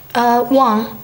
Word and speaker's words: Wang: Wang, W-A-N-G.